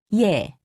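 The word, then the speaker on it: 예: sounds repeat after me yay also written as ye is pronounced ye imagine that you are trying to say ee and e quickly be sure not to pause in between pronouncing the two sounds repeat after me also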